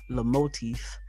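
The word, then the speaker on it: Lomotif: strike the licensing deal with video sharing app the motif now i hope i'm pronouncing it right it's l-o-m-o-t-i-f so apparently the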